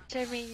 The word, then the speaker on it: Charmaine: Charmaine, yeah. Yeah, it rhymes with charming.